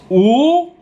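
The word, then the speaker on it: 五: five more minutes and in chinese the number five is pronounced ooh it's really fun to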